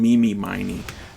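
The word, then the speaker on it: Mimi Miney: got to say her their names are supposed to be pronounced eenie miny and Mimi miny like eenie meeny miny mo oh or Min any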